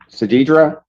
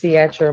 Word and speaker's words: Satra: to legal services pass strong future homes versus Sadidra. I got that right. Hello. Your name? My name is Satra. Satra. Okay, I messed it up.